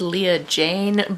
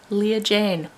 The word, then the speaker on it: Leah Jane: from editing here, I know that's not her name. Her name is Leah Jane, but to all the boys I loved before has forever destroyed my ability to say her name properly on camera. Leah Jane, that is your name.